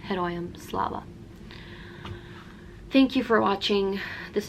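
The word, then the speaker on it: Героям слава: say slava ukraini and the response to that would be heroium slava thank you for watching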